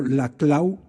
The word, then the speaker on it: Laclau: Lo primero, que el populismo sea positivo, que lo digan algunos autores como Ernesto Laclau, insisto que se pronuncia la clau y no la clau.